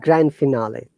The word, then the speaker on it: grand finale: there is another one like grand finale this is a french word yeah professor i mean grand finale grand finale yeah here we have to pronounce d but if anything that comes with grand like grandfather grandmother grandchild grandson whatever d is always silent in sandwich it's hard